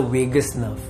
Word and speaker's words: vagus nerve: Out of which the ninth number cranial nerve is called the vagus nerve. Similar to last Vegas, but it's spelled differently.